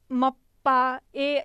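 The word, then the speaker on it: Mbappé: ठीक है, मपाए या तो उसको प्रोनाउंस कर सकते हैं या फिर MBAP याद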